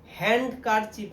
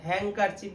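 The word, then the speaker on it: handkerchief: তার রুমাল হ্যাংকারচি বল হ্যাংকার এই উচ্চারণে কিন্তু অনেকে পাচ্ছে না হ্যান্ড কার চিপ না হ্যাংকার চিপ বললেই হবে ঠিক আছে হ্যাংকার চিপ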